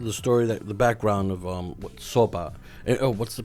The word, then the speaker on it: SOPA: So the idea is that it's pronounced Sopa. Sopa. There you go. Right, it's got a Some little enthusiasm into it. Right, it's got a little punch.